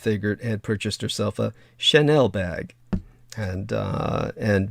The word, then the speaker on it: Chanel: had purchased herself a Chanel bag and uh and V had to teach her how to say it because she called it a channel bag which was really cute um anyhow of course